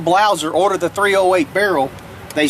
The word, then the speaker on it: Blaser: it it's called a blouser it's actually it's actually spelled b-l-a-s-e-r but it's pronounced blouser they're german-made the cool